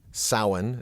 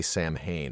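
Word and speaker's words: Samhain: America and they were celebrating Salin as we were going through the pronunciation although in Halloween two they say sam Hayne and I'll bet you like when that movie went overseas people cringed at the pronunciation but they would celebrate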